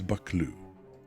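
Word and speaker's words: Buccleuch: Okay, it's bakloo. For your reference, this is the word. And the video I watched is 59 seconds long, and he finally gets to it at about the 30-cond mark. Bakloo.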